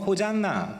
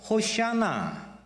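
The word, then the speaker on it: הושענא: 이게 무슨 뜻이냐면 본래 히브리어로는 그들은 이렇게 발음했을 겁니다. 이렇게 영어로 호잔나, 그리고 또 헬라어로는 호산나 그대로, 그리고 한국말로 호산나, 그리고 히브리어로는 호샤나.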